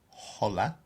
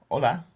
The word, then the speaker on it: hola: knows hola means hello you don't pronounce the h so it's not hola it's hola means are you Liz